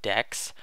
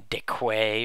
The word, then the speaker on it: deque: it you spell it like this and it's pronounced decks not dick way or something I don't know but yeah it